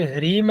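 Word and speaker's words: ह्रीं: वह शब्द होगा एम आगे फिर ह्रीम है वहां पर भी ह के बाद में कोई वर्ण नहीं उसमें भी नासिक नहीं है इसलिए वहां पर भी अनुस्वार को मकार से उच्चारण करेंगे हरीम क्लीम अब स्पष्ट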